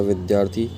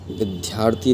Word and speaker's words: विद्यार्थी: स समीप रहने वाला विद्यार्थी गा इसको विद्यार्थी नहीं कहते विद्यार्थी कहेंगे इसमें द आता है ध नहीं आता ऐसे ही विद्यालय नहीं